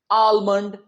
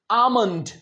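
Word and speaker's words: almond: इसे कहते हैं आलमंड आलमंड। जी बिल्कुल गलत है वो। ये जो एल है इसे हम नहीं प्रोनाउंस करेंगे। ये है आमंड।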